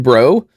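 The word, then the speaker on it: Breaux: So, he was born Christopher Edwin Bro. Uh, and it's pronounced Bro, but it's spelled the French way.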